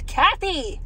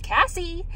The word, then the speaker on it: Cassie: was really quick H they put me as Cathy I'm not Cathy every single time I say my name is Cassie I always get Kathy but anyways got my